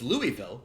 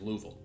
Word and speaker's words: Louisville: oh Louis so yeah so it's Louisville the French way like you know it's spelled with the is but it's like like everyone there no one says Louisville they get real mad at you it's like it's definitely Louisville well really what they